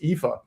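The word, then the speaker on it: Aoife: I know that's not what this looks like it spells, but trust me, in the way that Irish mangles, the English uh or the Roman alphabet that is pronounced Epha.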